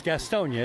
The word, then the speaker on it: Gastonia: I'm from California, so I've been saying Gastonia, and it's actually 3 syllables, Gastonia. Is that right? Not here. It's just 3. If you're from here, it's just 3. Okay.